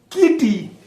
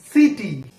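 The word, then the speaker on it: city: কিটি না, এটা সিটি।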